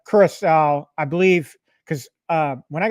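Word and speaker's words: Curaçao: Haven't finished it, but I will say that blue I pronounce it curacao. I know you struggled with the pronunciation of it, but curacao, I believe, because when I got married in like 1999, we got married in St.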